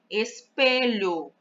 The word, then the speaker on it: espelho: Espelho, em espelho, a sílaba pronunciada com mais força é o pé.